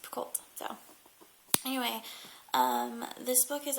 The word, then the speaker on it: Picoult: by Jodi Picoult, and I've heard it pronounced a couple different ways, so we're going to pronounce it Picoult.